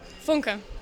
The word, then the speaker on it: Funke: Funke. Funke. You said it right? Funke.